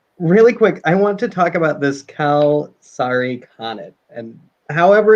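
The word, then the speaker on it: kalsarikännit: Really quick, I want to talk about this Kal-Sari Khanate, and however it's pronounced. Kal-Sari Khanate.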